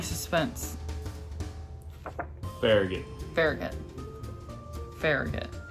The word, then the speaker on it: Farragut: very good very good Farragut that's what anybody says that um I've heard a fairy god huh I've heard of faruget but there's no that's probably for somebody yeah I've heard I I've heard pharah got several times very good okay um